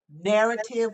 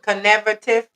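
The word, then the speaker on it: Knarrative: Was it conative? No, it's called narrative. The K is silent.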